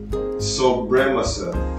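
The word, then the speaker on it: Sobremesa: I couldn't pronounce it, man. It's Sobremasa. Sobremasa.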